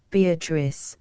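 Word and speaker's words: Beatrice: oft will tell note beatric I use this word as it is pronounced in the Italian as consisting of four syllables of which the third is a long one she then was silent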